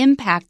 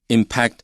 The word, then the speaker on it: impact: starting to 正在开始 seriously impact the environment 重工业正在开始很严重的冲击 impact 在这里是动词冲击环境，所以那个时候重工业刚刚开始发展，那时候大家也不太知道空气污染会带来什么问题，就觉得沿毛一毛就算了吧，所以大家开始发展重工业，然后开始对于环境有开始很大的冲击。 It can be pronounced impact or impact, both are correct here.